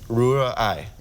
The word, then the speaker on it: Rührei: So you have to separate it, Rühr, and then Ei. Rührei. Yeah. Rührei. Yeah, that wasn't so Rührei.